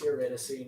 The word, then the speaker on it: Eurydice: Orpheus wants Eurydice to Eurydice. But it's Eurydice.